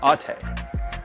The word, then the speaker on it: ATE: manufacture these brake pads it's actually not called ate it's pronounced atte this is a european brand which i think is pretty interesting that honda has used brembo for the front atte for the rear just something that i'm not